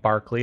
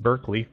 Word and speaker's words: Berkeley: Well, there's a famous philosopher named Berkeley, often mispronounced Berkeley, by which a famous